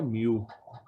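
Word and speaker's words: μ: ये अब ये क्या होता है, इसको हम प्रोनाउंस करते हैं म्यू, म्यू, तो म्यू मीन्स माइक्रो।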